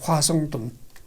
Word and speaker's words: 화성돈: 대통령이 그린 그림임을 발기했다 지금은 이제 워싱턴이라는 발음을 하는데 그때는 화성돈이라고 이제 발음을 했죠 화성돈 이승만이 김구와 대립한 것은